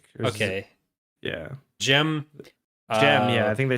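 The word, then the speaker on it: Dzym: It's I forgot how they say it in the audiobook because I did listen to a bit of the audiobook. They say it Gem, I think. Okay. Yeah. Gem.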